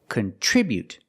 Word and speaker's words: contribute: Then for the second syllable we have tr and tr makes the chch sound like chicken plus the r together. Cont. The i after tr is a short i. So we make the sound I like this is together. Contri contri contribute. Remember the buu is not boo. It's not contribute. It's contribute. Make the y-yu sound.